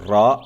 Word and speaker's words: راء: Harf Ra s'écrit comme ça. Il nous donne le son de R.